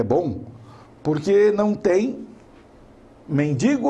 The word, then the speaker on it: mendigo: enem é man digo então a pronúncia correta adequada é mendigo infelizmente nós sabemos que